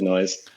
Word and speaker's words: Nois: it a fantasy name can just pronounce it from anounce it like noise yeah okay that's makes